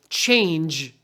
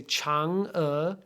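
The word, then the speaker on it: Chang'e: pinin so Chang uh now why do we need this apostrophe if we just write c-h-a-n-g e well that looks like the word change in English right so to make sure that people don't say her name is change we want people to say Chang uh you put an apostrophe in the middle to show that it's separate okay so Chang uh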